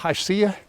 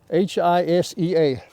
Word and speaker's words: Hisea: Y'all watch YouTube videos, and I'm sure that you've heard of the company called Hisea. Hisea, how do you spell that? H-I, here it is. H-I-S-E-A, Hisea Boot Company, and they give a lot